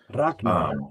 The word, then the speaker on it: Ragnar: And that's the G is K. Yeah, and it's a very hard G. Ragnar. Yeah. Ragnar, for anybody that yeah,